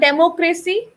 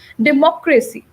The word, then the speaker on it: democracy: So it's not democracy. People say democracy. 90% people do not know the right pronunciation. It's not democracy. It's democracy.